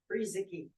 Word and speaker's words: Friesecke: Is it Friasecki? Freezicky. Friesecke. Yes, you take a key and put it in the freezer.